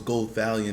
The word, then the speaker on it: Gothalion: I always mess it up. I don't know how to pronounce it, but I know it's Gothalion. That's the way he says it.